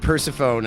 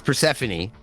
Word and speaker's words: Persephone: Last time you said Persephone, and I wasn't paying attention. It's Persephone.